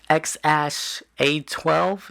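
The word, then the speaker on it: X Æ A-12: you because you said the X is just X the AE thingy is pronounced like ash and then the a12 is like he had like a favorite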